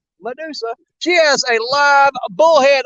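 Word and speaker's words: Mudusa: That's spelled M-U-D like mud. Medusa.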